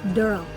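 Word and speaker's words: Derle: And he plays Durl and it's spelled D E R L E. It's not Daryl, it's Durl.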